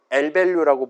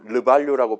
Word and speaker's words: lvalue: 일단 요 LVALUE라는 단어는 L밸류라고 보통 발음해요. 르밸류라고 발음하는 게 아니라.